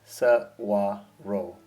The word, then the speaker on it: Saguaro: Saguarro, you pronounce it as S waro with a soft wa in the middle.